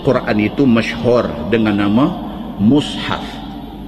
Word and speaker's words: mushaf: Sesungguhnya Quran itu masyhur dengan nama mushaf. Dia punya pronunciation dia, kita kena pronounce mushaf. Bila tulis Rumi, M-U-S-H-A-F, patutnya baca mushaf.